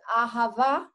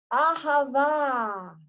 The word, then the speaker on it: Ahava: And we finished it with the word Ahava. Ahava in Hebrew is love. And the same way as you've got Buddha, Rama, Allah, Adonai, Ah. It's always Ah, this open sound, Ah. Ahava, it's a beautiful word in Hebrew.